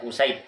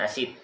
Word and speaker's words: Usaid: Wa Usaid bi dhammil hamzah, Usaid dengan mendhamakan hamzah, Usaid bacanya, bukan Asid, ya.